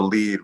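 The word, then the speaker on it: lede: it's in journalistic language it's called the lead which is spelled l-e-d-e to get it um differentiated from lead which is what we used to use for type back in the day um a long time ago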